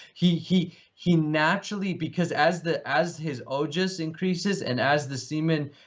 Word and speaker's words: ojas: And he naturally, because as his ojas increases and as the semen mixes more. Say that word again, again, please. As his ojas. What increase? Ojas? Ojas. Spell it, please.